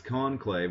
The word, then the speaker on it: conclave: set Tuesday oh this conclave which is a word I don't use my vocabulary very often con clave one word two syllables c o n c